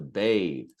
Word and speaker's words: bathe: To bathe, to bathe, you need the TH, strong TH at the end, is a verb.